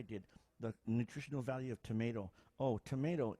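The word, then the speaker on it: tomatl: Stick the tip of your tongue behind your top teeth and leave it there.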